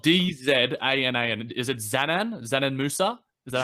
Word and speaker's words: Džanan Musa: It's spelled Dzanan. Is it Džanan Musa? Is that how I say it? Džanan Musa.